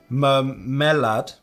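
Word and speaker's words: мармелад: It is pronounced mermelade, and in my opinion, you really can't compare a Russian gummy to an American one.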